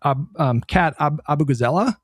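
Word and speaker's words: Abughazaleh: I mean, speaking of unconventional candidates, did you see the stuff with Kat Abugazela? That's how you pronounce it.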